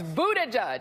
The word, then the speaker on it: Buttigieg: And my Pete Buttigieg pronouncer coach has texted it to me. You know who you are. It's Buttigieg.